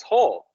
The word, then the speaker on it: whole: hail but hell is whole and whole like uh complete yes not whole like a hole but also hole like a hole the hole with the w which you don't pronounce yes yes well it's